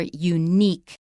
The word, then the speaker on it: unique: probably from French and it's stressed on the second syllable in American English that's right okay so